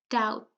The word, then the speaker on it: doubt: So I'll just give you a few more seconds to tell me which letter is silent in each of the words, okay?